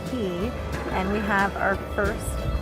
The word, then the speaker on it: Quay: The old Quay House, it's pronounced Quay, and we have our first course.